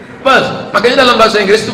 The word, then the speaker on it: Perth: I am going to Perth. Bukan pes, kalau pes penyakit. Perth.